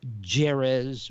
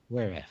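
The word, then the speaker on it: Jerez: they raced in where f i've i've been pronouncing it jiras or whereas but apparently it's pronounced whereif the racetrack in spain and this is the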